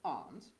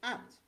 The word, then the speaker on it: aunt: However hard they try, they can't pronounce a simple word like aunt. Instead of aunt, they call it ant.